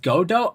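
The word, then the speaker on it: Godot: Godo. Oh, it's it's pronounced Godo.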